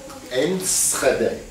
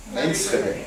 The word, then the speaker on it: Enschede: had it written down, I'd be able to pronounce it. Enschede. Enschede.